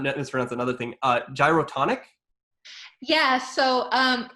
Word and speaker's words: Gyrotonic: around another thing uh gyrotonic yeah so um that you did actually pronounce it correctly it's dyatonic um i teach daratonic